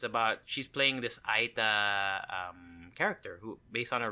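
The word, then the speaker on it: Aeta: Aita.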